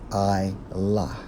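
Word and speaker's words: עָלָה: according to the Hebrew Strong's H 59 27 pronounced as I la which means what to go up ascend okay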